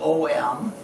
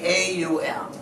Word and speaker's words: Om: you can see you think of ohm usually as om but it's actually a um and each syllable is meant to be pronounced the same length of time that's the correct way